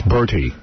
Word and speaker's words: Bertie: I thought for sure he'd write Bernie Higgins, and then I would have won. Yeah, it's Bertie. Bertie, B-E-O.